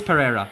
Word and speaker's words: Pereira: Oh, it is Pereira. Sorry. Thought it was Ferreira for a second, but it's Pereira.